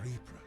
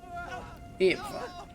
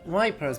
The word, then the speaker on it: Ypres: Ypres, Italian ruins. Dubbed Vipers by British troops due to its difficult pronunciation. Ypres.